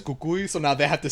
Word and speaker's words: Cucuy: see the movie and they hear the actors pronounce it as Cucuy so now they have